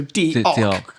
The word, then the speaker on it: diolch: So for diolch, they had DEE in caps, hyphen, OCK. So diolch.